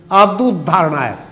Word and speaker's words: आपदोद्धारणाय: आपदोद्धारणाय नहीं, आपदोद्धारणाय एक साथ मिलाकर बोलेंगे तब तो शुद्ध हुआ, नहीं तो उद्धारणाय आमतौर से दोबारा बोला जाता है, दोबारा ऊ लग जाता है।